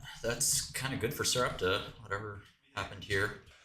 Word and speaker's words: Sarepta: It's Sarepta.